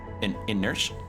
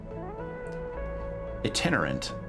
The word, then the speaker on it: itinerant: In inert inerant I've never seen that word before. Inerant I'm looking that word up. I've How do you pronounce that? Itinerant. Itinerant.